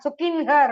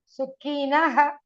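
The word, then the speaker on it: सुखिनः: Naha. Sukinha wrong. Sukinaha. Sukinha is wrong. Na in plus a plus visarga. Visarga cannot come without a vowel.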